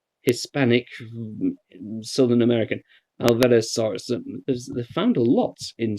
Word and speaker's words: Alvarezsaurus: Oh, there's one to pronounce. I'll give you a moment to get your head around that. Alvarezsaurus. That sounds Hispanic, Southern American. Alvarezsaurus.